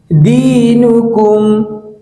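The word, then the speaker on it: دينكم: এই শব্দের উচ্চারণ হচ্ছে দীনুকুম দীনুকুম দীনুকুম।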